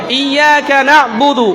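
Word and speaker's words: إياك نعبد: ইয়াকা নাবুদু ইয়াকা নাস্তা নাস্তা অনেকে বলছো না ইয়াকা নাবুদু ইয়াকা নাস্তা তারপরের আয়াত যেটা ইহদিনা সিরাতাল ইহদিনা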